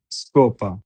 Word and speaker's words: scopa: Scarpa, S-C-A, Sca, R-P-A, scarpa, scopa, S-C-O, Scopia-pa, scopa, scuola, S-C-U, Scuola, scuola.